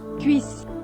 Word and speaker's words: cuisse: And Cuisse is pronounced as... Cuisse.